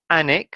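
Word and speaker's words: Alnwick: offem the third is anik so the l is silent the next one is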